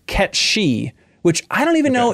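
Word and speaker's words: Cait Sith: we know it is Kate Sith that's what we all called it growing up apparently it's Scottish and it's actually pronounced ketchi which I don't even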